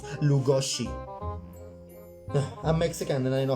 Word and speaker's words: Lugosi: My Hungarian friend Endre taught me how to pronounce it, Budapest, and that's how you also pronounce Lugosi.